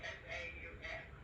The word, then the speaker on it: faux: Right, I heard you S-P-H-S, but how do you pronounce it? It's pronounced faux.